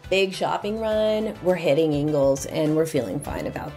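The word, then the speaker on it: Ingles: Here's your Ingalls Market. So this is gonna be the big market for East Asheville, the hub anywhere really in Asheville. It is pronounced Ingalls, and it does have a wide variety of food.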